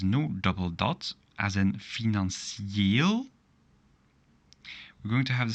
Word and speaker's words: financieel: Now, if there is no double dot, as in financieel, we're going to have the same pronunciation as here, Brazilië, financieel.